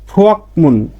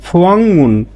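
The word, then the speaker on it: 부엌문: সাধারণ নিয়মে আর উচ্চারণটা কি ফুয়াকমুন, ফুয়াকমুন, কিন্তু রুলসের অনুযায়ী এখানে পাইছি ক ধ্বনির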